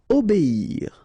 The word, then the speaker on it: obéir: Okay, so it's quite interesting here because you will make the difference. You will make a little something between the two. O, B, and after that you get the ir, okay?